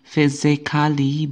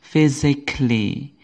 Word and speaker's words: physically: pada kata physicli ini bukan physikali bukan jadi kalau sebelumnya belum tahu ya Mulai hari ini Mulai sekarang ini dibaca jadi ini silent letternya adalah letter e ataupun a tidak ikut dibaca perhatikan lagi tulisan kata-kata